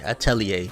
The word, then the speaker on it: atelier: uh Runa Mamba said it's pronounced at Telly Atelier okay Atelier we'll go with that um but then as